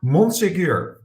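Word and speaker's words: Monsegur: i have just experienced i need to pronounce it in the french way so it is hector monsigur he's a security advisor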